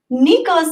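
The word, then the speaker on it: 猫: to recognize that was that my pronunciation was off for all 17 and a half years of Nico's life and I subsequently learned after having a student who was half French half Japanese and I told her that I had a cat named Neko and she giggled and human whoo-whoo Neko sounds like rat Neko is the correct pronunciation for cat so I was basically calling my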